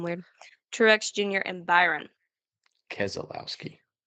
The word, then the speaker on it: Keselowski: Keselowski. Ke- it's Keselowski. Keselowski. That's how everyone else says it.